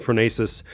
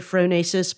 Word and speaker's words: phronesis: mobilizing the idea of the frenetic tradition and fasis and we may have listeners who don't know